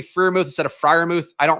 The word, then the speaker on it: Freiermuth: Or I'm Pat Freiermuth, rather. People also hate that I say Freiermuth instead of Freiermuth.